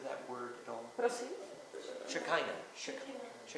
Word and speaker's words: Shekinah: Shekinah. Shekinah. Šekina. A co jsem No, řekla? probably not. Okay. That's a whole other lecture. Já vás neslyším, cože? Šekina nebo Šekajna, ale to strašně záleží na výslovnosti, to najdete v každé knižce o kabale.